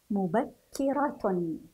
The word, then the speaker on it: مبكرة: انظروا العبارة الأخرى، مبكرة، مبكرة. سنلاحظ وجود الشدة على حرف الكاف، لذلك نضاعف الحرف، مبكي، نضغط على الحرف قليلا، مبكي، مبكرة.